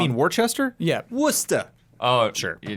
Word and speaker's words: Worcester: no, you Worcester. say it There's wrong. also Worcester. I'm saying you are saying your name wrong. You mean Worcester?